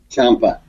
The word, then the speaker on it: Ciampa: Ciampa.